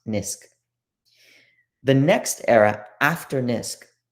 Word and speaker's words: NISQ: So this era that I mentioned is often called the noisy intermediate scale quantum regime, NISQ, often pronounced NISQ.